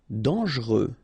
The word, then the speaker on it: dangereux: Dangereux. Okay, so final X not pronounced, and then don't really pronounce this here.